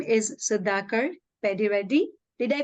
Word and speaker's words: Sudhakar Peddireddy: His name is Sudhakar Peddireddy. Did I pronounce it right, Master?